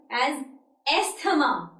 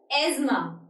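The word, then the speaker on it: asthma: ही is having एजमा लेकिन जिस तरह से यह लिखा हुआ है ए एसटी एच एमी उस तरह से लोग इसे प्रोनाउंस करते हैं एज एथमा लेकिन this is the wrong pronunciation of this word it इज एजमा ही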